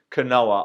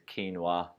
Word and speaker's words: quinoa: to say it properly Canoa I know how to say that no I don't it's quinoa tricking you there people